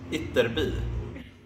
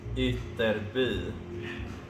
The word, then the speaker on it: Ytterby: How's it pronounced? Ytterby. And again for me. Ytterby.